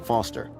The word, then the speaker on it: Foster: pickle so it does i'm foster i'll remember that easy because your name rhymes with fossil and you're old thanks kid what's wrong